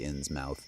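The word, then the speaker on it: Innsmouth: When you type in shadow over insmouth or inmouth, most people say insmouth, but I'm I'm telling it to you that way so you know how to spell it.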